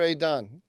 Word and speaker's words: Idan: Is it Edin Alexander or Adan? How do you say his name? Idan Idan, Alexander.